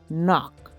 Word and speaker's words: knock: of vowels and consonants but the way we pronounce them can change depending on the word for example we have the word knock it doesn't start with n it starts starts